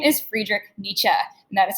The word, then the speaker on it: Friedrich Nietzsche: with a fantastic mustache here his name is friedrich nietzsche and that is how you pronounce that very difficult to spell um so